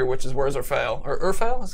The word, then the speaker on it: Urfael: Or Urfael is how we pronounce the sword?